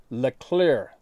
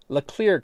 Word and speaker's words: Leclerc: stream in northeast Washington State called Leclerc Creek, pronounced Leclerc, Leclerc Creek.